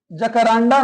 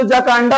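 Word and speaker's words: Jacaranda: द जकारांडा नहीं लिखा है। ये लिखा है जकांडा। इसमें कहा जो आर ए है ना वो थोड़ा सा साइलेंट है। ठीक है? एक्चुअली जो जकांडा होता है नॉट जकरांडा।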